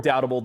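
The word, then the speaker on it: Rhum Foursquare Redoutable: Richard of Foursquare has only done this one other time, and that has been with Redoutable, or Doubtable, depending upon how particular you want to be on the pronunciation.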